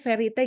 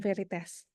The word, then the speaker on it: Verite: Jadi untuk Verite ini tuh walaupun ada huruf S-nya, bacanya tetap tanpa S ya, jadi bacanya Verite gitu, bukan Veritas.